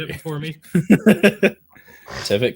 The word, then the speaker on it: Tivit: Tivit can pivot.